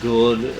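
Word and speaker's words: Gould: Gex Um, uh, Dana Good or you know, again, spelled like could but with a G.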